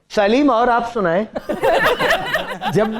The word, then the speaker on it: Salem: लेकिन वहां इसका प्रोनाउंसिएशन सेलम है। ये सालिम नहीं है जो ये कहता है सालिम, वो है सेलम, विंस्टन सेलम।